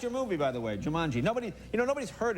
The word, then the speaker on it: Jumanji: a good movie now it's a different you pronounced it perfectly it's Jumanji Jumanji which is a Hebrew Italian restaurant really a